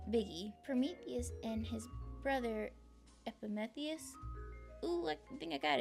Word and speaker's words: Epimetheus: Eponytheus. We're just going to call him Biggie. Prometheus and his brother Epimetheus.